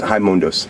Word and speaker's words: Raimundos: Yeah, it's pronounced Raimundos.